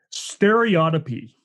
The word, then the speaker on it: stereotypy: It's called, I gotta pronounce it right, stereotypy.